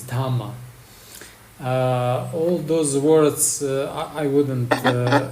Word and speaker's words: dhamma: In Pali, they are pronounced a little bit different because Pali lacks the letter R. So sutra is sutta, karma is kama, nirvana is nirvana, and dharma is dhamma.